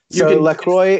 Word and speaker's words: LaCroix: It's I guess you could call it, you can say LaCroix or LaCroix. It doesn't really matter. They're both ways to say it, but it's fine either way.